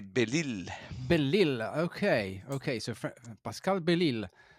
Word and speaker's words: Belisle: In French, we say Belisle.